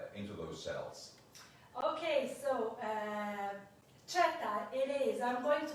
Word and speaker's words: Cheta: I'm going to call you Cheta, even though it's your last name. This is what you prefer, because obviously Violica or Violica is not the proper way to pronounce this name. So it's Cheta, and she's born also 1974.